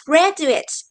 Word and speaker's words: graduate: we say that they graduate. So, the first vocabulary word is graduate. Now, repeat. Graduate. Great. Now, please pay attention to pronunciation. The stress is on the first syllable.